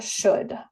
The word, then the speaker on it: should: Otra vez, ven aquí que en la pronunciación no se escucha la L. Se pronuncia should.